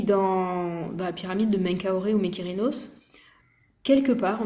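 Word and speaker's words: Menkaure: Et donc Mykérinos, qu'on appelle plutôt Menkaoré, les Arabes ont plutôt gardé l'appellation égyptienne de l'Égypte antique, parce que nous on a les les mauvaises, euh, les mauvaises prononciations adaptées par les Grecs du coup.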